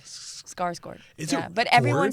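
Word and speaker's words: Skarsgård: And it's selling scars guard right. It was just pretty like scars gourd. Scars gourd.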